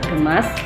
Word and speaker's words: gemas: Pelafalan yang benar adalah gemas, bukan gemes.